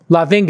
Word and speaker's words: Lavingia: Lavingia is how you pronounce it. Lavingia.